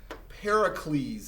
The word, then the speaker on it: Pericles: well during this time we see this person pericles is how you say it pericles is going